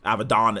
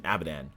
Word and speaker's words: Avidon: I keep on saying Avidan because it's Avidan. So it sounds like Avidan, but it's Avidon. America and our pronunciation. Literally, there's an A and an N at the end of it, and it's not Dan, it's Dawn.